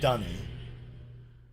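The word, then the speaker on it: D'ni: Yeah, well, I always preferred Denis because that's how I would pronounce that apostrophe, you know? I don't know. It just feels like it's a more natural way of saying it. But I know that Rand Miller's preferred pronunciation was Dunny.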